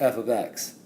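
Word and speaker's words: f(x): see this as your function name and it's pronounced f of X as far as I can understand the only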